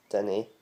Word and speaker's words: dinnae: Thinking of it phonetically, of how to say it, is Dinny. Dinny. If you're going to say like someone's name Danny, it would be take the A out and change it with an I and Dinny.